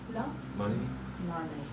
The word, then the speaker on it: money: Do you think the O in the two words has the same pronunciation or different pronunciation? Different. That's the problem. It's the same. It's the same. Money. Hi, Machi, you've got to come and sit down here. Yeah. Money. The sound is the same.